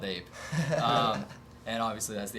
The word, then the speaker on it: A.P.E: kind of confusing okay a-p-e yeah it's the acronym yeah so it's not really supposed to be pronounced ape it's got it so